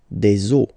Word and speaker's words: os: the end, but then same rule, you don't pronounce it. Des os.